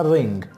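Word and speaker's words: wring: in clothes when quite इस में W silent है हमने आर से स्टार करना है तो क्या बनेगा रिंग कपड़े न छोड़ने को इंग्लिश में कहते हैं रिंग रिंगा क्लॉथ कपड़े न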